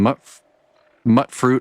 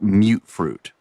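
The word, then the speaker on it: mutfruit: All right, and then mut fruit. I don't know why people call it mute fruit. It's mut fruit. M-U-T. Mut.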